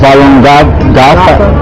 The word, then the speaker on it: Falun Dafa: It's pronounced Falun Gong. Falun Gong. It's also called Falun Dafa, which means... Falun Dafa.